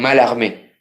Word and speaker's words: Mallarmé: se escribe a la escriben mallarmé pero se pronuncian mal amén de po amar amal